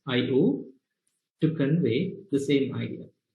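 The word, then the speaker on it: I/O: another computer we use the notation i slash o pronounced as io to convey the same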